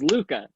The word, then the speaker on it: Luca: Her name is Luca. It rhymes with puka, which is a shell, I think.